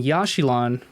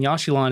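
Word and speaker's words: Yaxchilan: hopefully we'll we'll touch on um so in yashilon when yashilon is discovered and uh this might need to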